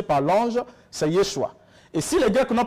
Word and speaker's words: Yeshua: la langue hébraïque la langue originale le nom prononcé par l'ange c'est Yeshua et si les Grecs n'ont pas pu le